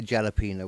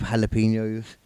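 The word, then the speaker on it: jalapeño: hes so much that they turn their JS into hes jalo they do actually yeah H H yeah yeah I grew up like calling it a jalapeno when I figured out it was spelled with a J yeah it's a jalapeno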